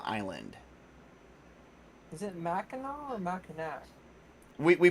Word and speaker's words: Mackinac: horror of Mackinaw Island is it Mackinaw or Mackinac we pronounce it Mackinaw okay yep yeah kind of like how people